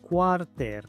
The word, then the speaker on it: quarter: Muchos pronuncian esta palabra quarter, pero la A se pronuncia como O. La E es muda antes de la R.